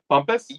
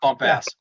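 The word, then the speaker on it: Bumpass: Roger Bumpus. Yeah. Yeah. Yeah. I said it right. Yeah, you did. Roger. It's pronounced Roger, not bumps.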